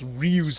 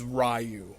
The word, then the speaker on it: Ryu: Kaiba is one of those people that would pronounce Ryu's name as Rayu. This might seem like a minor complaint, but come on. And if you're going to pronounce his name as Rayu, how come you don't call it Sh Rayu Ken?